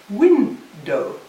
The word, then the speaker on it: window: about the bowl well what I want to show my students is that it's win dough so that the stress is on the first the second is a